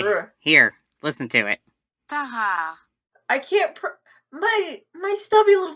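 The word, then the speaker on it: Tarrare: I think that the two R's together makes it a hard R, so. I mean, the pronunciation Okay. guide is... Okay, Ugh. here, listen to it. Tahar.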